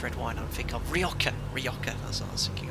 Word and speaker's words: Rioja: So I always call it Rioja wine, but it's spelled, looks like Rioja, but it's pronounced Rioja.